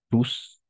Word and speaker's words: tous: Alors, tous, on va prononcer tous tel quel.